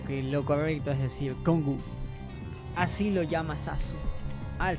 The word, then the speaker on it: Cong: la que lo llama as que con se pronuncia congu y pues es por eso que lo correcto es decir congu así lo llama sasu al señor el rey